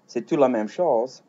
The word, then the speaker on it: c'est tout: Now, this one here is sets. And note that even though I said it kind of fast, it's there's a a little t sound at the end of that uh that goes in there.